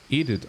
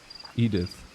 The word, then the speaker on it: Edith: Meine Mutter heißt so und im Deutsch spricht man es Edith aus. Edith.